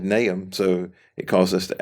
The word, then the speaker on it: Nahum: so we it's his name n-a-y-h-m would be the pronunciation so that's what we're